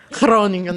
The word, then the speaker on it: Groningen: Groningen, yeah, that's the Dutch pronunciation, or somewhat, yeah.